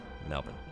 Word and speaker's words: Melbourne: Yeah, it's pronounced burn rather than born. Yeah. Okay. Thank you. Melbourne.